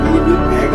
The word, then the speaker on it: 니느베: 여기서 아수르는 아시리아를 말하고 아수르의 수도가 바로 니느웨이고, 이 니느웨를 발음을 정확히 말한다면 니느베가 됩니다.